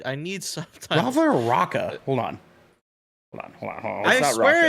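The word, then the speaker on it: Raka: Like just the way they spell it is Rocca. R-A-K-A. Oh, it is. Okay. Yeah, Rocca. So Rocca.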